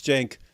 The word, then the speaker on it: Cenk: there uh so yeah I just thought of how I could reme how I could remember how to pronounce his last name it's it's Jank brother G is that close enough if I if I call him Jen G Brother G that's it does that